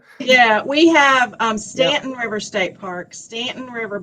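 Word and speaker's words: Staunton: a city called Stanton and they call it Stanton yeah we have um Stanton River State Park Stanton River Battlefield State Park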